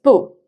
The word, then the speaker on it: 不: Did you notice that 吃 carries the first tone? Here, 不 is in front of 吃, therefore it's 不.